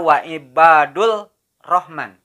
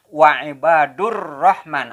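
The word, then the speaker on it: وعباد الرحمن: Beda dengan membaca wa ibadur, tidak membaca wa ibadul rahman. Tapi membacanya wa ibadur rahman. Alif lamnya dibaca tidak jelas, makanya dinamakan samsia.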